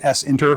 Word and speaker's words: SINTER: And s inter is sinter, of course.